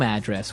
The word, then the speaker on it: address: So, different from your home address where you live. Yeah. And there the stress is on the first syllable address. Right.